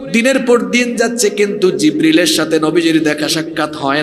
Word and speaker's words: জিব্রিল: তিনি আর কেউ নন, তিনি হচ্ছেন ওহীর ফেরেশতা, নাম হলো জিব্রাইল নয়, এই ফেরেশতার নাম হলো জিব্রিল।